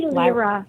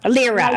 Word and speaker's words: Lyra: How do you pronounce it? I say LRA like LRA.